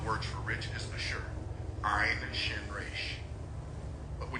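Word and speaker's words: עשר: That word is asher. It's spelled Ein, Shin, Resh.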